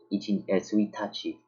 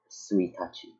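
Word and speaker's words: 一日: Suitachi. This is like a special case. You don't pronounce this as ichi nichi or ichi whatever. It's The whole word is just suitachi.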